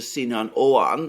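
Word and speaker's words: Sinan Oğan: that it seems that the third candidate Mr sinan owan and I understand that's the correct pronunciation of it um the key point to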